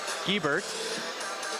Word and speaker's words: Giebert: And quick pronunciation here, it's Giebert.